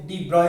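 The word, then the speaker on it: de Broglie: हम कई बुक्स में डी ब्रॉगली हाइपोथेसिस नाम से भी जानते हैं। क्या डी ब्रॉगली, अब बेटा इसको डी ब्रॉय भी प्रोनाउंस करते हैं कई लोग, वो आपकी मर्जी है कैसे।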